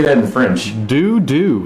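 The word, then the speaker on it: Doux: Doo. It's Doo.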